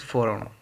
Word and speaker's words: foreign: कुछ लोग फोन बोलते हैं, कुछ फॉरन, कुछ फॉरन। इट इज़ a depend on your pronunciation and हाउ you speak, like FOREIGN, बट the right sentence is फॉरन, फॉरन यानी कि विदेशी, विदेशी लोग।